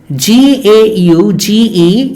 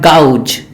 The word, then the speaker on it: gauge: gauge not God not gouge it is gauged it is that the aing sound is it is pronounced as e sound in English so it is gauge not gauge or gouge all right so